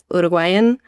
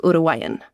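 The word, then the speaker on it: Uruguayan: Um and even the word like Uruguan you'd say like uruguan but you don't really pronounce the g in the middle so much. It's not like uruguan it's like urugan.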